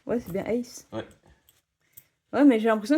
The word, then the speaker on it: Ace: Et c'est bien Ace, hein, t'avais bien prononcé. Ouais, c'est bien Ace.